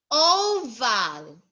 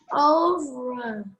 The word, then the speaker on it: oval: Oval. Again. over. Again, oval. Over. Oval. Not her. Letter L.